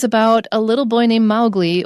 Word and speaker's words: Mowgli: And this book is about a little boy named Mowgli, or Mowgli, some people pronounce it like that.